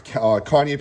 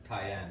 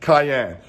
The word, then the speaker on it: cayenne: and uh what's this kanye powder i can't even say how do you say that word cayenne cayenne i'm always saying kanye it ain't kanye it's cayenne okay so oh my god